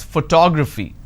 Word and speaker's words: photography: i pronounce this as photography how do i pronounce photography and how many syllables do i have here four toe fee four syllables but in this case i stress on the second syllable that is what word